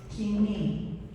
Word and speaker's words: Koine: Loretta is asking me to pronounce the word K-O-I-N-E. All right. You're familiar with the pronunciation koine. By the New Testament times, the pronunciation has evolved and is kimi.